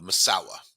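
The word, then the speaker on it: Masau'u: basically all sounds like massau m m but pronounced masawa that's really the pronunciation they also call him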